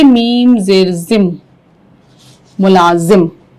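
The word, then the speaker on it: ملازم: उसके यहां मुलाजिम थे मुलाजिम का सही तलफ आशुतोष मुलाजिम ठीक वर्तिका मुला गुड दोनों ने ठीक बोला अच्छा मुलाजिम अब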